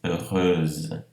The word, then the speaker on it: heureuse: E aqui é o caso de heureux, feliz, heureuse.